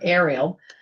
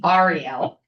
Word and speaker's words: Ariel: I've been calling her Ariel, like the mermaid, and it's Ariel Mondlak.